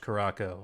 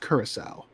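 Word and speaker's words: curaçao: Some folks like orange Caraco. I always include a little umbrella. Interesting. I believe it's pronounced curacao.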